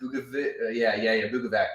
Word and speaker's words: Bukovac: Bukovac.